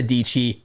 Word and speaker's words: Dietschy: So everybody, welcome to the show, the one and only Sara Dietschy, rhymes with Peachy.